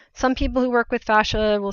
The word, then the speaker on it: fascia: hear it called that there's some yeah split in how we pronounce it but they'll say like